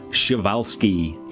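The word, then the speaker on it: Przewalski: And speaking about pronunciation, Shiovelski is how you pronounce the horses. I've finally been corrected um by somebody who has um friends who spend a lot of time in Mongolia and that is apparently the correct pronunciation for it.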